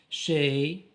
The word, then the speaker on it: chez: Les terminaisons de EZ ou bien la syllabe EZ qui se prononce comme A, le nez, EZ prononce comme A, le nez, chez EZ chez nous, le nez يعني الأنف, chez nous يعني عندنا, venez ici ici, venez c'est le verbe venir, l'impératif.